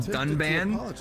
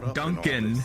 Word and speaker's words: Dunban: The the guy they had read the script, he mispronounced every character's name wrong. There's a character called Ry. He called him Rain. There's a character called Dunban. Uh, the guy called him Duncan and then they gave it a bad score.